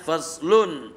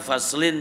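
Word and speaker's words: فصل: masih berhubungan nah begitu faslun a had fashlun dibacanya fashlun ya ya memang tidak ada apa karepmu baca faslin juga enggak apa-apa ya jadi jadi ee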